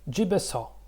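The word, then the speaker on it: 집에서: So jip, so jibeso, and this is the second level. Okay, so when we do connect the syllables into a single word, jibeso.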